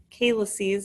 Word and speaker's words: calyces: so the major calyces and calyces is the right way to pronounce that drain the superior middle